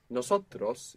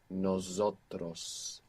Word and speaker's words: nosotros: Most English speakers find themselves accidentally saying nosotros with a Z.